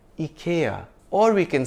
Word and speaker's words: IKEA: software thank you Ikea everyone I know says Ikea the Indian ads and the American ones say Ikea but interestingly the UK ads say Ikea which is closer to the Swedish pronunciation so if we want